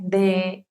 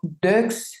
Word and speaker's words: deux: Por ejemplo, il a deux enfants. Si yo tengo la palabra de sola, esa X no se pronuncia. No digo deux, sino de.